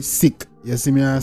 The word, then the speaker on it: Siq: the lab L of people pronounce it as Sig you see me but do sick you see me say